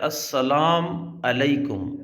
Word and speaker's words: السلام علیکم: یہاں پر غلط ہے۔ تو اس کا جو صحیح تلفظ ہے وہ ہے السلام علیکم، اور قرآن پاک کے